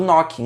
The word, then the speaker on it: knooking: Inclusive a história do nome do knocking, né, que a gente pronuncia knocking mesmo tendo o K na frente, você encontra no e-book, então você baixa lá, tá certo?